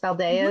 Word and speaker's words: Saldaya: Eli Camp, and I have a special guest today, Emilee Saldaya, right? Saldaya is how I pronounce it.